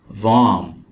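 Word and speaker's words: warm: का मतलब है समंदर वम वम वम का मतलब है गर्म और यहां पर हम आर को नहीं पढ़ेंगे यह वर्ड है वम फ्री फ्री फ्री का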